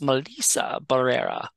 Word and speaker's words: Melissa Barrera: interview that she did and the person actually pronounced her name right it's Melissa Barrera but uh yes um so if I ever